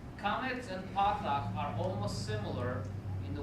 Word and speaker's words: patah: Patah is the correct pronunciation.